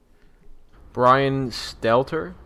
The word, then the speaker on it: Brian Stelter: Brian Stelter?